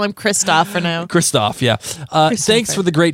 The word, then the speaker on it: Kristoffer: normal in Norway, where Kristoffer Hichu, I have no idea how to say his name, so I'm just going to play this. It's not Christopher. It's Kristoff. Kristoff.